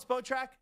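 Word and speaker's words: Spotrac: Is it spot rack or spot track? Whatever you call it track. You call it spot track.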